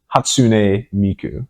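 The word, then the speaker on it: Hatsune Miku: nuts it was very it was just pronunciation you had all the right syllables in the right order so it's hatsun Miku oh I switched the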